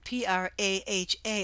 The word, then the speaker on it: Praha: I stayed in Prague which is p r a h a and pronounced praha by the natives second and third night